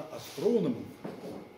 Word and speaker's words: астрономов: Так как люди, работающие в физике, делятся на экспериментаторов, теоретиков, так люди, которые приходят в астрофизику, они делятся на астрономов. Именно вот это ударение, оно подчеркивает принадлежность к профессиональному сообществу.